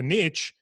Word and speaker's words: niche: thick american accent that niche rhymes with rich for a reason they did that on